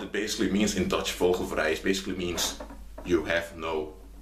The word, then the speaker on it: vogelvrij: In Dutch, you have you have a term called vogelvrij.